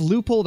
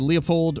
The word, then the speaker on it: Leupold: however you pronounce it i know some people pronounce it leupold as some people pronounce it leopold or lewipold or whatever i always say loopholed but uh yeah they've